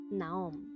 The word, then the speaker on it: Nahom: En las lenguas semíticas no se escriben las vocales, pero la pronunciación es Niem o Nahom.